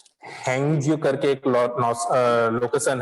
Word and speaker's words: Hague: ये world code जो है ये हैंगजू करके एक लोकेशन है नॉर्थर्न लैंड में। नॉर्थर्न लैंड का हैंगे में है, HAGUE, ठीक है। इसका प्रोनाउंसिएशन हम लोग करेंगे हैंग, HAGUE।